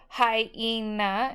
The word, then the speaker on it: hyena: Hyena is 3 syllables, and the Y makes the long I sound. E just is the long E by itself, and then the short A.